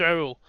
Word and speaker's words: Raoul: It's Raoul. Mhm. So With a slight Hispanic accent.